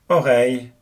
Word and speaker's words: oreille: The sound here is the same as the one in English hey or say, hence the French words oreille, pareil, and abeille.